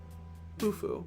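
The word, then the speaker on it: Khufu: Hufu is how you say his name.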